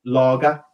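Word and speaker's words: Lage: And, okay, yes, a hell of a lot of games managed less, but it's pronounced Laga.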